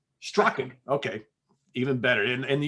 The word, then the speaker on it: Strachan: lot of times it's it's pronounced more like with a k so uh very cool